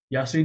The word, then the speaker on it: Yassine: So so yeah, Yassine, am I pronouncing that correctly, by the way, Yassine? Yasin, that is correct.